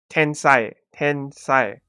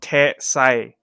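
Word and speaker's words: 天才: Ten sai, not te sai.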